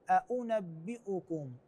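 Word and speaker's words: أؤنبئكم: انبئكم قل ا انبئكم هنا انتقالات شويه عندنا همزتين مع انتقاله بين فتحه و مضم بعدين عندنا فتح فبالتالي شويه قد ربما عند بعض الناس يواجهون صعوبه في نطقها فالصحيح ان نقول هكذا قل ا انبئكم ا ا انبئكم ايضا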